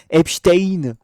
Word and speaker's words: Epstein: J'ai appris à le prononcer grâce au journal 20 minutes, les gars. Epstein.